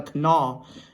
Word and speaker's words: Kanawha: Because the W is silent.